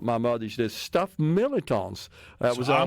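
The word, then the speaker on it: mirliton: it was always pronounced militon. Like the R is kind of silent.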